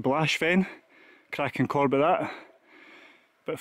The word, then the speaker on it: Baosbheinn: Righty-o folks, here we've got the mighty, I think it's pronounced Blashfen, cracking corb of that.